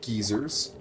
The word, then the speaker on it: geyser: Or as the British say it, geezers.